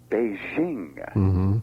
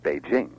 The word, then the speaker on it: Beijing: news readers is is a kind of phony French soft J sound in the name of the capital for the capital of of People's Republic of China they say Beijing and that sound doesn't really exist in Chinese and and we should we should shouldn't really say it that way in Engish it's just a straight J Beijing what about words like